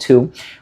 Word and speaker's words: THoO: So, congratulations to the person who is going to win this.